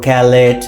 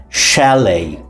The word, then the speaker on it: chalet: And sometimes C C H A L E T that is uh chalet or calate. Right. But exactly the pronunciation of the word is shalet.